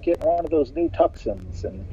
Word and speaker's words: Tucson: a sudden you realize it's it's Tuscon in a way that's supposed to be Tucson and then you realize oh yeah they just spell it funny man this is me